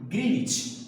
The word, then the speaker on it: Greenwich: So they have taken 0 degree longitude which is passing through England, Greenwich.